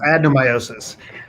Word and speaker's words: adenomyosis: What is, I think it's adenomyosis? Close. It's Right? adenomyosis. It's close. It's adenomyosis. Okay. Adenomyosis is a disease process that overlaps, the symptoms that it causes overlaps with the symptoms caused by fibroids. Adenomyosis is a subset of endometriosis.